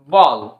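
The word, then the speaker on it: ball: এর সঠিক উচ্চারণ কি হচ্ছে, ওয়াক, ওয়াক। নেক্সট এক্সাম্পলটি দেখি আমরা, বি এ ডবল এল বল, সেরকম ভাবে সি A double L কল, এস এম এ এল এল স্মল, স্মল।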